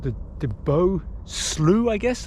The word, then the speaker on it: slough: This is called the DeBoville slough, I guess, though in English we will pronounce that slough. But I guess it's slough when in Canada, speak Canadian.